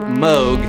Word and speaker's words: Moog: a Robert Moog although if he had his druthers we pronounce it mogh because that's the way he pronounced it tell that to your Emerson Lake & Palmer fan in your life Moog is the answer 237